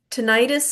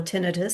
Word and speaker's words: tinnitus: postural changes, varicose veins, tinnitus and hearing loss, or tinnitus, some people pronounce, skin and complexion changes, and poor sleep quality.